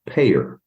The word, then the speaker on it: PAEER: Now, you'll get a kick out of this because it's pronounced PAEER.